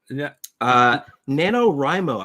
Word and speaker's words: NaNoWriMo: NaNoWriMo, I think, is the accepted pronunciation for this nonsense abbreviation.